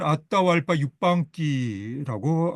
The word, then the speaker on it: Atahualpa Yupanqui: 본토 발음으로는 아따와 알파 유방기라고 하나요?